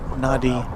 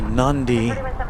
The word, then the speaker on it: Nadi: And if we're here till 3:00 or so, we'll be getting the uh Fiji A35900 from Nadi or Nandi, depending on how you pronounce that word.